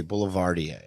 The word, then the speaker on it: boulevardier: the name of it the way you spell it it's just hold M just a little closer it's just the word Boulevard and you just put an ier at the end it's French whoa um so everybody